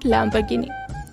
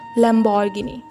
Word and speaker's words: Lamborghini: It's not Lamborghini. It's Lamborghini.